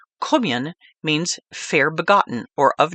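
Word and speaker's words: Cóemgen: The Gaelic pronunciation of St. Kevin's name Kumian means fair begotten or of noble birth.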